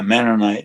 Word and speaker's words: Mennonite: We have Mennonite, is that how you pronounce it? Grocery stores that make the best baked goods. Okay. Yeah, Mennonite.